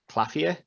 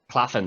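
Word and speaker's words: Claflin: in someone that Carl has used before, Sam Claffia, I think is how you say his name. Claffin, is it? Claffin, sorry, Sam Claffin, sorry, yeah.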